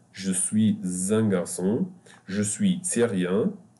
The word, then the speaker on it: syrien: Je suis syrien. The Y here will be pronounced like Hani, like the Y at the end. It will be E, like the letter I in English.